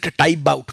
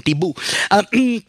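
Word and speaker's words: Tiebout: uh charles uh t-i-e-b-o-u-t so some people actually pronounce it to type out but my first teacher like can you pronounce him so caroline huxby calls him tibu but the core idea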